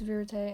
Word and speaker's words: Vérité: So, apparently it's Vérité, and it's called Think of Me by Vérité, and it's just about, I think it's a good song.